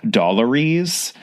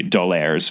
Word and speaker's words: D'Aulaire: pronounced because it's it's written by a French couple whose last name is doir so it clearly has to be Do's book of greekness I digress